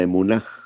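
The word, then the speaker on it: אמונה: Pero, ¿qué es la emunaj? Es una palabra hebrea, la emunaj. lleva se escribe de derecha a izquierda.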